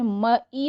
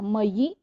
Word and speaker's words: मयि: इसमें मई नहीं बोलना, मयि, आवयोः, अस्मासु। ठीक है, ऐसा हमें उच्चारण करना होता है।